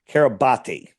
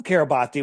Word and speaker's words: Kiribati: And all it says is registered in the nation of Kiribati, or Kiribati, it's pronounced Kiribati, right?